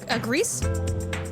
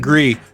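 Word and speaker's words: Gris: Grease? It is in fact Gree. Okay. Look at this. I like forget my name. Gree. The S is silent.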